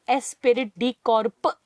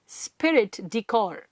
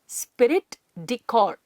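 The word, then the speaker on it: esprit de corps: डेकोर spelling ठीक है pronunciation गड़बड़ मत करना इट इसे नॉट स्पिरिट दी कॉर्प कॉर्प्स भी नहीं है कॉप्स का मतलब होता है डेड बॉडी इट इस स्पिरिट डेकोर स्पिरिट डेकोर कॉर्ड स्पिरिट डेकोर what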